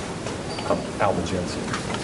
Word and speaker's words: Albigensian: Albigensian.